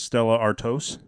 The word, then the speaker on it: Stella Artois: And I think the proper way to pronounce this one is Stella Artois.